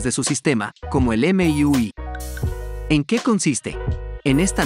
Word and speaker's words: MIUI: Se trata del término que, si lo pronuncias, sonaría MIUI, como el inglés de MIUI.